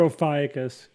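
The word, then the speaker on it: Ophiuchus: how do you now there's two ways to pronounce it yeah both of those two i've heard those two and i prefer ophiacus because it's correct okay so i have a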